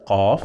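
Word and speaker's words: قاف: It's not K or Q, k. It's not k. It is I need your high attention now because I will say what? So I pronounce this letter qaf, we call it qaf, 2 times.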